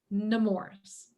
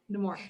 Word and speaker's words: Nemours: and let's just um get the pronunciation right nemours right newton's power nemours yes no more and i also also